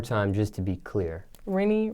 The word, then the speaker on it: Renni: Remy.